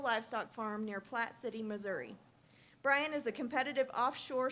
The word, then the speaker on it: Missouri: Klippenstein grew up on a beef cattle farm in Missouri, or Missouri, as I'm told it's pronounced by the locals.